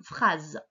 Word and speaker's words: phrase: Attention, le S, il se prononce Z. Il est entre deux voyelles. Une phrase.